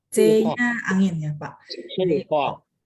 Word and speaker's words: 策划: Jadi C bacanya ada angin sehingga bacanya 策划.